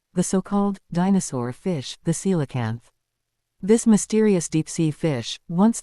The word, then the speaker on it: coelacanth: so-called dinosaur fish, the SEE-la-kanth. This mysterious deep-sea fish, once thought to have disappeared alongside the dinosaurs, has shocked the scientific world by reappearing in our time. Let's dive in. The SEE-la-kanth, pronounced SEE-la-kanth, is a species of